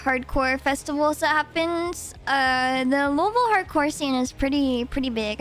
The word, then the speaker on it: Louisville: Louisville hardcore scene, and Louisville are the best in the world. Louisville. Say it like you're local, man.